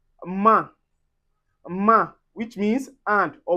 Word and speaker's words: main: We also have A I N or A I M, and we'll pronounce this as un. This is where you get to say main.